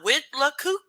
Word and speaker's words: Withlacoochee: Pronunciation. Yeah, Withlacoochee.